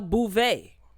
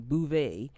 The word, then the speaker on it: Beauvais: new york city uh garcelle bouvet okay that's how you pronounce her last name bouvet aka fancy she is